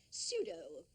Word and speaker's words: pseudo: Words like pseudo and psittacosis that starts with a silent P.